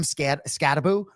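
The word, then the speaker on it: Skattebo: So Jackson Dart Cam Scattaboo, right? And for those of you who don't know, it's 1-0, but it's pronounced boo.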